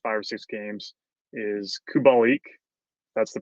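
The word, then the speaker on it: Kubalík: hard the last five or six games is kubalik that's the pronunciation he this guy like started hot very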